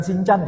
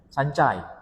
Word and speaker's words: Sancai: Bukan sincan ya. Sancai.